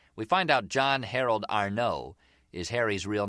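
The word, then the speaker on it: Arnaud: Soon as we did, we find out a man named John Arno, A R N A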